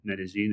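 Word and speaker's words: Medellín: I decided to spend about a month in Colombia in in Medí, Medigene if you pronounce it in the kind of Spanish flare of of the uh of the name.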